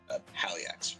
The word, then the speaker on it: Haliax: I am called Aliax. Aliax. Haliax for pronunciation purposes.